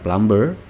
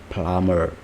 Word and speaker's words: plumber: broken selanjutnya ada plummer bacanya bukan plumber but plummer plummer plummer is someone